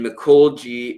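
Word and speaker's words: Mikolji: Um, but that's Ivan Mik G, which is I V A N. And then Mico G is M I K O L J I.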